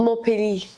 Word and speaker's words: Montpellier: don't pronounce the T, so Montpellier. Montpellier.